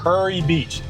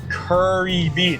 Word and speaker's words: Kure Beach: All right, so now we are into Kure Beach. And that is pronounced Kure Beach. Fastest way to to tell someone that you're not from here is to say Kure Beach or Kure Beach.